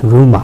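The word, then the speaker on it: rumour: হিউমার আর রিউমার এ দুই মধ্যে কিন্তু একটা তফাত। আচ্ছা। সো হিউমার আর এর উচ্চারণ হবে আমেরিকান।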